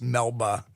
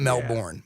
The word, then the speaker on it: Melba: It's Melba, not Melbourne, Melba. Close like Melba toast.